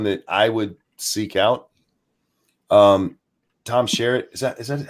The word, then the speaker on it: Skerritt: Tom Skerritt, is that how you say his name? Tom Skerritt? Skerritt, that's it.